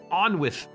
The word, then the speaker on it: Onwith: The closest pronunciation of my name in your language is Onwith, but I suspect that might be a mouthful.